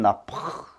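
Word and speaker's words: נָפַח: 이것은 나파, CH 발음, 크로 발음이 돼요.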